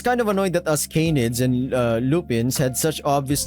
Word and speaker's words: canid: It was kind of annoying that us canids and oh my god, I'm searching this pronunciation right now.